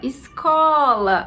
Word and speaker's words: escola: Escola. A sílaba có é a sílaba mais forte.